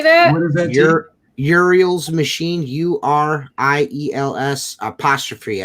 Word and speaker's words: Uriel's Machine: Uriel's Machine, URIELS apostrophe S.